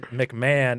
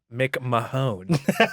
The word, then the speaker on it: McMahon: know why is it why is it pronounced McMahon and not make my own Bridget Alex there's no